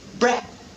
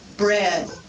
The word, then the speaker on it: bread: For example, they may drop the final consonant sound in the syllable. For example, they might pronounce bread instead of bread. Bread. So you wouldn't hear that final d that closes the syllable because the learner has difficulty closing the syllable.